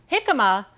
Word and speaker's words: jicama: Jicama, it's actually spelled with a J, J-I-C-A-M-A.